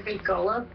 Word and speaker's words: Golob: The last name is, I'm sure I'm pronouncing this one right, G-O-L-O-B.